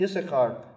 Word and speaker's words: Issachar: The same with Issachar. Issachar is always written with two scenes. You're only supposed to pronounce one.